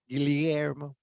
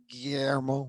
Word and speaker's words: Guillermo: I say my name the Filipino Filipino way, which is the double L's as L-Y, Guillermo, as opposed to the double L's as the YY, Guillermo, which is like, it